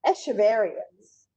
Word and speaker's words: Echeveria: coral you would find under the sea uh echeverians or echeveria um heard it pronounced both ways this is a whole genus